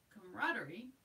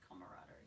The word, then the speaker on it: camaraderie: Notice that the spelling as well as the pronunciation drops a syllable in the middle of the word camaraderie.